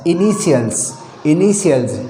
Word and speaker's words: initials: Word में टी हो, यदि किसी वर्ड में टी के बाद में IA, IE और IO वर्ण दे रखे हो तो टी का उच्चारण से हो जाएगा। जैसे INITIALS इनिशियल्स, इनिशियल्स का मतलब होता